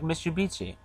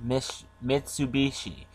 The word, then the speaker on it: Mitsubishi: I just some Japanese companies like Mitsubishi. I probably pronounced that way off. Mitsubishi.